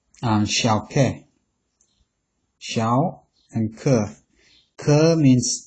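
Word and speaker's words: 消渴: In Chinese medicine, Chinese is pronounced xiao ke.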